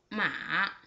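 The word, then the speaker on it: 马: The third one with the third tone, its pronunciation is just like this. Mua, ma.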